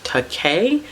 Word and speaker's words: Takei: us enemy by george takei because i think that's how you say his last name because in the graphic novel they were talking about his last name rhyming with okay so we took a